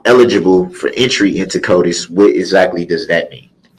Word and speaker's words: CODIS: you explain what his code is is that pronounced right CODIS or Kodak yes it is yes CODIS you submitted DNA to that database multiple times